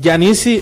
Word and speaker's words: Jah Nissi: Es Yanisi. Yanisi se escribe J-A-H espacio N-I-S-S-I. Muy bien, porque luego ya andamos diciendo Janisi. Sí. O ponemos con Y.